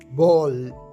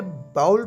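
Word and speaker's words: bowl: next word है बोल बोल इसकी सही प्रनंसीएशन है बोल इसे बाउल पढ़ना गलत है बोल कहते हैं प्याले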